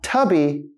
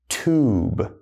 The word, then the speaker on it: tube: Again, not tubby, we say tube, all right?